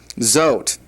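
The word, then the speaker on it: זאת: the feminine demonstrative pronoun zot it is spelled Zion olive tav but the uh olive is just it might as well not even be there because it is silent. It is not pronounced and that's just something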